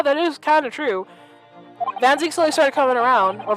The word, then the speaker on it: Van Zieks: I keep on calling him by either Van Zieks or Van Zieks because I never knew how to pronounce his name properly, but it's Van Zieks.